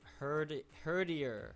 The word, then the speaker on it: Herdier: I never learned how to pronounce Herdier. It's like herding and then ear. Terrier, Herdier. Okay.